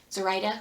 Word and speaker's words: Zoraida: of orchidea divina by zorida cordova as i wrote this yeah zoraida cordova is probably how her name is pronounced my bad this